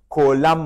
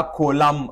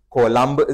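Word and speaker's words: Coulomb: د دې د نامه صحیح تلفظ هم کولم راځي. فرانسوی فیزیک پوه دی، د دې نوم داسې لیکل کیږي. دا نوم دی، دا کولم ویل کیږي، بي نه راځي. خو خیر زموږ تاسې په کتابو کې دا کولمب ذکر سوی، موږ تاسې به په همدې شکل باندې زده کړو. صحیح تلفظ یې راځي کولم.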